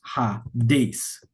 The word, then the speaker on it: Hades: This S has an S sound.